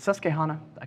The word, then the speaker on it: Susquehanna: beth go majors of i always mispronounce this is it susquehanna yes okay hannah so he wrote